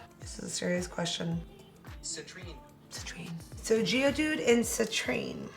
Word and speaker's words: Citrine: No, I'm saying it wrong again. Citrine, there we go.